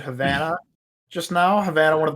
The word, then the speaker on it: Havana: that's right when you call it havana because that's how it's supposed to be pronounced oh yes i'm trying